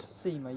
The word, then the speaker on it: CEMA: So, here I am at the uh um Seema. Is that how it's actually pronounced? Seema, yeah.